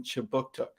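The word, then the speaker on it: Kjipuktuk: newcomer services conducts business in chibuktuk which is how you say halifax in the mi'kmaq language this city is part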